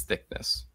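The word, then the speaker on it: Thicknesse: thickness is more funny Jim Dale definitely says thickness I could not find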